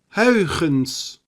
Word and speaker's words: Huygens: Okay, so the first tricky part is the diphthong UI in modern spelling or UY in archaic spelling. It sounds like this. Ui. Ui. Ui. Ui. The next stumble block is the letter G, pronounced as g, which you may know in English from Scottish loch, although generally more raspy.